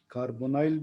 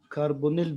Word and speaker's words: carbonyl: ऐसे organic compound जिनमें कार्बोनाइल functional group हो, इसे कार्बोनाइल भी प्रोनाउंस करते, कार्बोनिल भी कहते हैं।